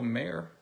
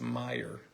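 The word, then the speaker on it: Mayer: Valerio first Chrome and Marcelo mayor or I guess it's Meyer was corrected I'm sorry Marcelo nice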